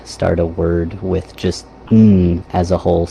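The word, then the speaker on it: ん: So that one is just pronounced "Mm."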